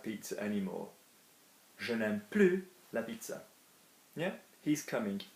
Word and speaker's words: plus: Plus, in this negative sense, is going to be plus without the S pronounced, as opposed to more